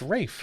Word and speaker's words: Ralph: It's not Ray Fiennes. It's G.I. Ralph. Jose. It's No, Ralph. it's Rafe.